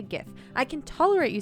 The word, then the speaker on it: GIF: be i mean well it can't be geef you can't pronounce gif as geef that's wrong obviously uh but chief